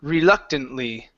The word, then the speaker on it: reluctantly: You're still pronouncing a little bit of a D sound with that R.